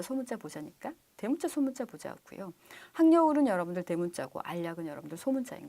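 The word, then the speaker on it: 학여울: 바뀐 것 같기도 한데 그 전에 여러분들 그 이름이 항려울이라는 역이 있었어요. 근데 많은 사람들이 그것을 하겨울로 알고 있는 경우가 많아서 표준 발음으로 문제가 나갔던 경우가 있었습니다. 니은 첨가돼서 항려울이 맞습니다.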